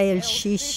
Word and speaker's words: LX: Llegamos a El Xix.